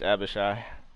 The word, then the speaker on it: Abishai: down that's how I pronounce it too B but it is abishai what how did I